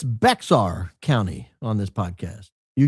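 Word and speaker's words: Bexar: It's Beexar County on this podcast.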